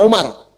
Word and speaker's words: Amr: Ah, kalau dibaca begini Amr namanya. Kalau wunya hilang bacanya Umar.